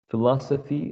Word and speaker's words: philosophy: word is uh philosophy philosophy has four syllables and the stressed syllable is the second one philosophy philosophy words 74